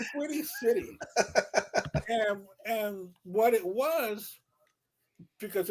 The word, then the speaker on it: Twitty City: Twitty City. I keep on saying Titty City, but Twitty City.